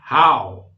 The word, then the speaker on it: how: H-O-W. Bacanya how.